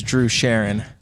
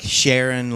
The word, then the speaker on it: Charron: they're saying it wrong so it is Drew Sharon okay yeah like Sharon like sha yes all right yeah